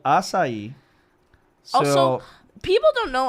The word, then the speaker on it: açaí: But we have the cedil on this song that does the sa sound, so asa, and then we have the accent on the I, which kind of inflection on the I, so it's açaí. Yeah. And the I has a E sound in Brazil.